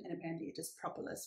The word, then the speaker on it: propolis: to always pronounce as propolis but then i actually looked up the official pronunciation and apparently it is propolis which makes sense because we also say proper properties but anyway propolis what